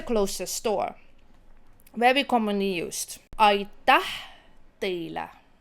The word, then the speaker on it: aitäh: Aitäh teile. Same thing, aitäh is when your tongue goes up.